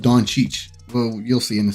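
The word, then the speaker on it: Dončić: uh doncic uh yeah y'all hear how I'm saying donches right I I might have a cool little segment on the pronunciation of Don Cheech well you'll see in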